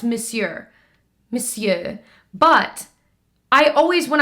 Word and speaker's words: Monsieur: fine I don't know why I know it's Monsieur Monsieur but I always when I look at it this way I always want to say Mahseer big I know that's how it's pronounced you